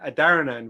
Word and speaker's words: Adharanand: So I kind of anglicize it, which is because that's how my parents said it. So I grew up being Adharanand with the H silent, so Adharanand.